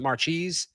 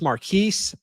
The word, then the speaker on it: Marchese: And then we also saw Brady Marchese, which I watched a few Michigan podcasts talk about him and they pronounced it Marchese. I would have guessed Marquise.